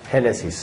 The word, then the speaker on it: Génesis: Genesis, en el acento en la E, ¿verdad? Okay. La primera E.